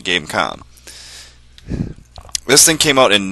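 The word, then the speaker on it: Game.com: tiger game calm yes there's a dot there be pronouncing game calm this thing came out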